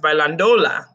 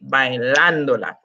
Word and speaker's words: bailándola: If we took that tilde away, it would be pronounced bailándola, which is muy, muy raro. It needs to be bailándola.